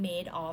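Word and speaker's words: Madoff: คะ ที่ ชื่อ ว่า สะกด เหมือน คำ ว่า mad of m a d o ff นะ คะ แต่ ว่า อ่าน ว่า Made of เป็น นาม สกุล ของ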